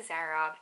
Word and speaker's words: Zara: went to zara actually they pronounced it differently here they say zara so i went to zara a lot a lot